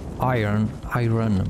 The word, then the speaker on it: iron: It's a bit confusing because it's spelled iron, but it said iron.